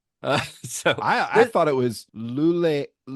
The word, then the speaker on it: Luleå: I looked it up, and it's kind of it's a weird pronunciation. It's like, I mean, you're saying it how it's kind of I was looking at written, I was looking at the translation notes. it's kind of like Luleå.